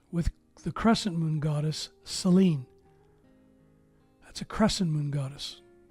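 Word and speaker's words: Σελήνη: And it's pronounced Selene, the moon.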